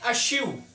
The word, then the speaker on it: eschew: 110 पे आता है अश्यू, इसको प्रोनाउंस करते हैं अश्यू, वर्ब है टू डेलिबरेटली अवॉइड और keep away from something, deliberately सोच समझकर गुरेज करना किसी चीज से।